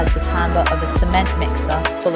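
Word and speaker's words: timbre: This is tambber, pronounced tambber, which I always forget calling it timber like a falling tree.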